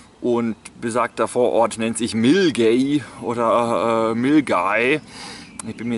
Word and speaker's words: Milngavie: Ich bin mir jetzt nicht genau ganz sicher, wird Millengay wie geschrieben und so habe ich es früher auch immer genannt. Und jetzt dank der netten Durchsage im Zug weiß ich jetzt, dass dieser Ort Milgay ausgesprochen wird.